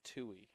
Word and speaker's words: Tui: and then Claire Tui is how he pronounced that as well for Sunapee Lakers. Tui.